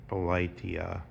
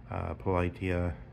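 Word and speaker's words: Πολιτεία: That remember that notion in the Politeia, I think is the correct pronunciation of the Plato's Republic in the Greek, Politeia or Polity, where the guardians have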